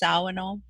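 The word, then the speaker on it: Shawano: Shauno, that's where I live. I live in Shauno, which is a town right south of the reservation. I know that's pronounced Sawano, which means south.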